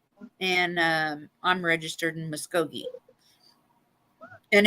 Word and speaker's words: Muskogee: God Tahlequah yeah and um I'm registered in Muskogee and it's so funny to hear people try to say Muskogee Muskogee well they'll be like well how do you say that Miss geeky yeah most definitely if you have to be